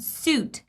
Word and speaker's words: suit: at the end yet sweet is going to be pronounced as sweet and suit is going to be pronounced with oo sound suit it's my suit ooh